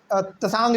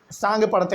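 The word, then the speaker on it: Tsangpo: बहुत लोग इसको तसांग भी पढ़ते हैं, लेकिन असल में इसको हम लोग सांग पढ़ते हैं, इसमें टी जो है वो साइलेंट रहता है।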